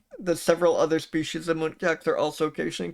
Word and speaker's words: muntjac: That's how they communicate with each But can we, because Wikipedia did mention that several other species of muntjacs are also occasionally called barking deer, so we should see if they say the species name in this.